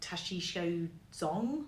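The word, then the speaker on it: Tashichho Dzong: know how exactly how you say it but it's like the Tashi show Zong which is like the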